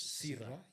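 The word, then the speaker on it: PSIRA: So when we say SIRA, the P is silent.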